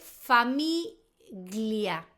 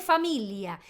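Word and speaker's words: famiglia: Familia en español, en italiano se escribe familia, pero la g, la gono. Cuando vos veas una G con una L, la G no se pronuncia. Entonces, si en español se escribe familia y se dice familia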